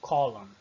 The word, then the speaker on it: column: Column, não pronuncio o N no final.